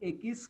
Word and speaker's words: equis: I am saying Ekis. Q plus U is pronounced as K. Remember it? Remember that? Q plus U is pronounced as K. E is pronounced as A. Ekis.